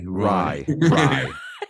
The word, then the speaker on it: Rye: Rye or Roy? And you grew up. What's that? Rye or Roy? Rye. R-Y-E pronounced R-Y-E.